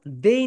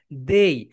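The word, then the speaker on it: they: কিন্তু এখন তুমি এখানে থার্ড পার্সন সিঙ্গুলার নাম্বার নিয়ে আসো, দেই নিয়ে আসো, বলো মাই ডিয়ার স্টুডেন্টস দেই। তোমরা অনেকে এটাকে বলো দে, দে না, এটা রাইট প্রোনাউন্সিয়েশন ইজ দেই।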